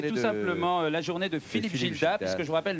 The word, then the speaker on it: Gildas: la journée de philippe gildas parce que je vous rappelle le s ne se prononce pas assez gildan t.gil d'art